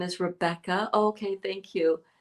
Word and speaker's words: Rebecca: With the V instead of a B. in Greek, just mention it to make it easier for you. Am I pronouncing it the correct Greek way?